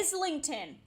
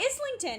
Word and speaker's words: Islington: Some of those names are not pronounced how they why is it called Islington? That is not how that is like spelled. That's spelled like Islington, and I will not I know.